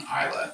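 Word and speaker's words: Islay: Um definitely one um distinct uh region is I Isa which is one island in Scotland is spelled IS l a Y.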